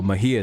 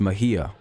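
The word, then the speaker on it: Mejía: Mejia is how you say that. Mejia. Sorry about that. I've been butchering that this whole time. It's Mejia.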